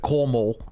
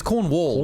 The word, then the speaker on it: Cornwall: you anyway that's why my dad mispronouncing the word Cornwall for years called it cornall and I thought M Corall for years cuz cor your name cornall cornall it's Cornwall right it's spell Cornwall cor